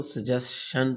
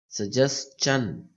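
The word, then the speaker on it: suggestion: हम वैसे इसको सजेशन पढ़ते हैं, सजेस्चन।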